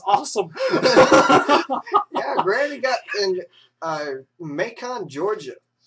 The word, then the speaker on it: Macon: Yeah, Granny got in Macon, Georgia. Go Macon. Yeah. Grandmas are awesome, apparently, in bacon. Don't mess with them. Might have something to do with it rhyming with bacon, but I'm not sure.